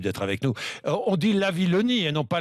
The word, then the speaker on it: Lavillenie: Oui, je crois que c'est la Villonie. Oui, c'est une histoire d'orthographe. Il y a deux L et un N, donc je crois que ça Bon. se prononce comme ça.